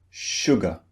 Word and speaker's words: sugar: Which syllable do you think is unstressed? Sugar. Sugar. It's the second syllable and in the second syllable we have the sound uh the target sound sugar.